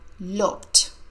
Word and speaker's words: looked: of look teach Andrea looked the e d sounds like T the woman looked at